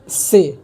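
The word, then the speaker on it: ث: उसी तरह है से, इसको से बोलते हैं और से की हिंदी स होगी।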